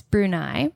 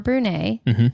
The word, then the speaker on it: Brunei: to shout out some new countries one is Brunei or Brunei Google we googled how to say it so